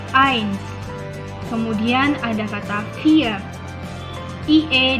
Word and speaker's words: eins: Ada kata eins, tulisannya eins, ei dibacanya I, maka jadinya eins.